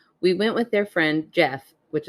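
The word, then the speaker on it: Geoff: went with their friend Jeff which it's spelled Geo FF which always throws me up it sounds like a very fancy Jeff that's that's how intelligent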